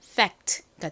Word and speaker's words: fact: 그래서 이 단어의 발음이 한국식으로 팩트, 그리고 실제 발음은 fact가 되는 겁니다.